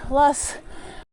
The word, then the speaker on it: Loess: Loess.